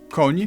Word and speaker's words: koń: You start with an N and soften it to ni. Koń, Ni. niski, danie. Rather simple. I'm 90% Wait, so is that konni or is it just kon? to ni. Koń, niski, Konni. Okay, konni. danie. Rather simple.